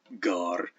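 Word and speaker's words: gār: That's a so-called hard G. That's a stop, gar.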